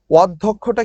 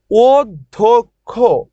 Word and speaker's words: অধ্যক্ষ: ওকে শেষ ও ধক্ষ শোনো ধর সাথে যদি জ ফলা থাকে তাহলে দয় ধ হয়ে যায় ধর সাথে জ ফলা থাকলে কি হবে ধর সাথে জ ফলা থাকলে উচ্চারণে দ এবং পরে একটা ধ হয়ে হয়ে যাবে দয় ধয় হয়ে যায় ধর সাথে জ ফলা থাকলে দয় ধ হয়ে যায় অধ্যক্ষটা কি হয়ে যাবে অধ্যক্ষ অধ্যক্ষ এরপরে আসো ব্যতিক্রম এটা কি